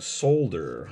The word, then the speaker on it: solder: little bit of fresh solder on there or as they say overseas a solder which i understand there's an l in there but sometimes the l is silent like sometimes there's extra